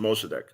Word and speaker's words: Mossadegh: And when academics have referred to him, it's pronounced Mossadegh.